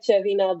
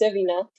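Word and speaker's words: Cervinia: Uh, you've also got Deervina, which I discovered yesterday, is not pronounced with a CH, but if you see it, it looks like Chervina, but it's Cervina.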